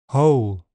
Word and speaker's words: whole: W is silent in some words. Sword, to, answer, who, whole, and in all words beginning WR. Wrong, wrist, writer.